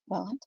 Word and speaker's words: Welland: asking, because they were born and raised in Welland. Is that how you say it? Welland?